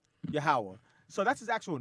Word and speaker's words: Yahweh: Yahweh or Oh, Jehovah. No, Yahweh is how you pronounce it.